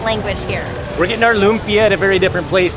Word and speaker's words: lumpia: And at the time, I was pronouncing it all wrong. I think I was calling it lumpia. Lumpia. Lumpia, But no, it is lumpia, and I finally got it.